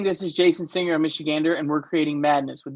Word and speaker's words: Michigander: It took me several times to try to pronounce Michigander's name. I wasn't sure if it was Michigander, but it's Michigander.